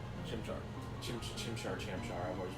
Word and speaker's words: Chimchar: I prefer Turtwig, but I picked a Chamchar. Chimchar. Chimchar. I've always pronounced Chamchar.